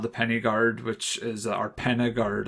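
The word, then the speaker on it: Pen-y-Gwryd: I think the Y is pronounced like a U, I think. So Penna Guard, I think, would be the correct way to say it.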